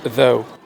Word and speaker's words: though: Bah, Sous, ouais, je sais pas. Sous. Through. je sais pas. Ouais, sous, hein. Sous. Oh là, pardon. Sous. Ok. Il se prononce though. Though.